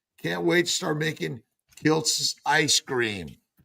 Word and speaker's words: Kiltz: Can't wait to start making Kilts ice cream. K I LZ is how my name used to be spelled. So I added a T so they pronounced it properly, which Kilz is Kilts.